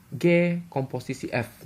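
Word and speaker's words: g∘f: Tapi bacanya bukan o sih. Ya, tulisannya memang mirip-mirip O ya, tapi bulatan kecil gitu ya. Bacanya adalah G komposisi F.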